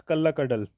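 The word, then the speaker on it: Kallakkadal: So, in spoken language, these words were combined and pronounced as Kalla Kadal, meaning the ocean that arrives as a thief.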